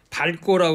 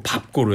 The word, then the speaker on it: 밟고: 되겠어 조금 전에 그 밝고라고 그랬지 추억을 밟고 추억을 밟고 리을 발음을 했는데 그렇게 하면 안 되고 밥고로 해야 돼 아 유일하게 리을비읍이 중성